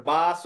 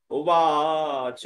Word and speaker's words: উবাচ: এবার বাচ ও মধুসূদন হবে না, কি হবে? উবাচ মধুসূদন।